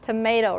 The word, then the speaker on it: tomato: home and record yourself when you say the word tomato really fast you could you you that vow after T is barely there tomato tomato you don't really say the uh part you because it's not stressed you go tomato tomato and that Shah is